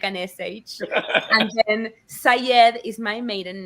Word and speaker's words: Saied: So Shamile is an Arabic name pronounced with an Argentine accent. We say the Y like an SH. And then Sayed is my maiden name, which is Arabic.